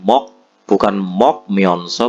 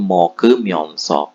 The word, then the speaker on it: 먹으면서: Bukan mok myonso, bukan tapi moge myonso.